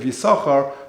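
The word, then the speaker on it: Yissachar: So the first sin of Yisachar we pronounce. The second one we don't.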